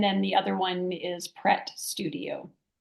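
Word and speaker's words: Prêt: Oh yes, Pret, Pret. Prete, which Mhm. you could say pretty. And You some know, people do, yeah, some people do yeah, pronounce it like that. yeah, It's the French verb to be ready.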